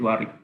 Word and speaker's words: Warwick: In the written, it's Warwick, but we say it Warwick.